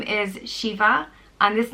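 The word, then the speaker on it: Síomha: Next name is Shiva, and this name comes from Síohmha, which means Si means peace, and Ma means good, so it means good peace.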